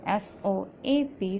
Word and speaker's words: soap: Soap, S-O-A-P, soap. Soap in this word, O is talking and A is silent.